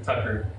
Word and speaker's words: Thakkar: How do I say it correctly? Tucker. Thakkar.